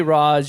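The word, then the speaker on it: Ra's: I say Raz, you can say R, whatever you want to pronounce it as.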